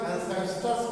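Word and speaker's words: ancestors: इसको पढ़ेंगे, इसका प्रोनाउंसिएशन एंसेस्टर्स करेंगे।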